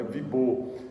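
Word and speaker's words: Wibeau: Então se lê assim, mas quem estuda francês sabe que o E-A-U sempre vai ficar um O, então é Wibo.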